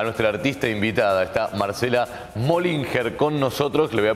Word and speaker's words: Mohlinger: Bueno, ¿cómo es la pronunciación en alemán? Mollinger. Mollinger, ahí está. Mollinger, Mollinger te suelen decir, sí, seguramente. Totalmente. Aquí, ¿no? En la ciudad. Sacando diéresis y H, le ponemos el Mollinger.